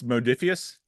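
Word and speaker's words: Modiphius: everything so it's a it's modius modus with a long o the uml out over the uh over the US it's modius and modius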